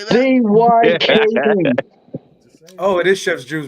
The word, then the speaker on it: Van Dyck: It's Dyke. Well, it says Dick. D-Y-C-K. No, it's pronounced Dyke. Van Dyke.